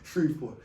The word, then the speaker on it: Shreveport: Okay, Shreveport.